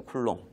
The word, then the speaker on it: 쿨롱: 단위를 뭐라고 할 거냐면 C 이렇게 쓰고요 읽을 때는 요걸 뭐라고 읽냐면 쿨롱이라고 있습니다 쿨롱 앞으로 읽을 때 쿨롱이라고 읽으시면 돼요 요거 남기 하셔야 돼요